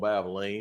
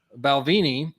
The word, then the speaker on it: Balvenie: the Balvenie. Come on, Babeline. There is actually a reason I keep mispronouncing that, and I'll tell you a little bit later. The Balvenie Caribbean cask 14-year.